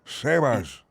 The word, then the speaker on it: Sebas: Sebas. Sebas. All right. Sí. All right, it's a pleasure to meet you both. Edgar and Sebas. Sebas is short for Sebastian, if that helps you pronounce.